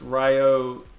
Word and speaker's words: Ryo: I didn't realize that my name was so hard to pronounce like last night on the stream I was saying all kinds of weird stuff like Rio Roo or whatever but so yeah it's Rio are you on Twitter